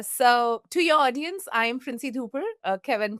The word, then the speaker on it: Princy Dhupar: Uh so, to your audience, I'm Princy Dhooper. Uh Kevin pronounced my name greatly though.